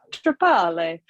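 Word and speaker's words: Trepalle: Trapale.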